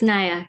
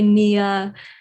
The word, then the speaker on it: Naya: What are different ways people pronounce your name? They say Nia. Yeah, Nia is the main common one. Nia. Nia. But I'm glad the pronunciation has been on the right track. Naya.